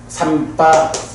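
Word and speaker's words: sampajañña: 그 삼바자나에서도 그 정지, 발음암 이럴 때는 명사로 정지할 때는 삼바잔야 이렇게 돼요. 삼바잔야. 그래서 염정지를 갖춘다. 사띠와 발을 알물 갖춘다. 이렇게 말할 때는 사띠 삼바잔야 이렇게 나와. 그런데 우리 대표적으로 아따삐 삼바자노 사띠마 삼바자노 나오잖아. 삼바잔야를 가진 자.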